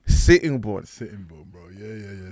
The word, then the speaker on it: Sittingbourne: Sittingbourne.